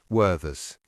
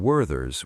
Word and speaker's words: Werther's: I pronounce the th in Werther's with a th sound. But did you notice that Danny used a v instead?